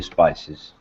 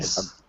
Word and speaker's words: species: It's possible that all the salamanders found along the valley are descended from one early species. Species. Pronunciation? Spices.